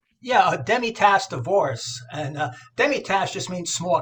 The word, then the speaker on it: Demitasse: Am I pronouncing that right? Yeah, Demitasse Divorce.